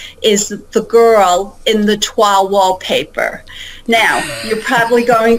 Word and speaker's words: toile: It's not toilet wallpaper, no. It's toile wallpaper. And I'm sure many in your audience know what toile is. Yes, I researched. Yes, toile is that incredible artistic fabric and wall covering.